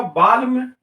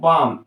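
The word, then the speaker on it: balm: देखि य पर बालम मैं बालम नहीं बोल रहा हूं मैं बोल रहा हूं बाम एल को छोड़ दिया एल साइलेंट हो गया और यहां पर मैंने इसको लिखा बाम बी ए एम बाम ठीक है तो इस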